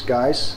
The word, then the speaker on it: Gijs: yeah so my name it looks a bit strange but the best pronunciation is guys uh and dutch i